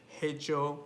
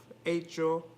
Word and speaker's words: hecho: also with ages two i keep forgetting that the h is silent in spanish so i keep saying things like hecho instead of acho and hispano hablante instead